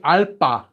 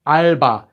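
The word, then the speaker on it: 알바: with this letter Alba they don't say ala no it's just Alba we finished all the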